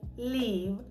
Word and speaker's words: live: Тут уже буде така коротенька и оця зв'язка л и е, як у нас була в слові literally, якщо ви пам'ятаєте, live. Live. I want to live in Ukraine.